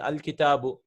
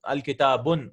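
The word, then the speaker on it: الْكِتَابُ: You can never have al and tanween coming together, right, at the end of the word. Example, al-kitabu, the book. Al-kursiyu, there's no al-kitabun. We cannot read it like that, right? We have to say al-kitabu.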